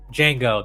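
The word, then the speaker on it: Django: you know he did Jango the D is silent right he did uh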